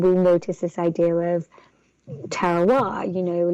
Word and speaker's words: terroir: Did you say terroir? Oh, terroir. It's a French, so Terroir.